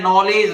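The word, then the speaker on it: knowledge: देखना ये क्या है नॉलेज लख रहा है नॉलेज स्पेलिंग आपको जानते ही है के एन ओ डब्लू एल ई डी जी ई ध्यान रखना डी जी ई D silent है य नॉलेज तो के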